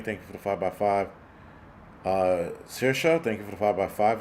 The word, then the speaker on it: Saoirse: Saoirse, thank you for the 5x5 if you're on here.